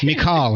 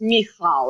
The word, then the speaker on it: Michal: It's Michal, right? It's very close. So that's very, very close. But you have to have the ch in the middle. So it's Michal.